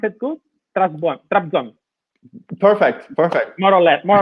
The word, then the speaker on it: Trabzon: Mustafa, Trabzon. Did I pronounce it good? Trabzon.